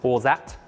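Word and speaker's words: orgeat: finally 10 m of our orat syrup or some people pronounce this orat and this is going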